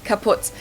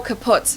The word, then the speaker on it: kaput: moved to the us we spell it with two T's in Germany but we pronounce it the same way kaputs and it basically has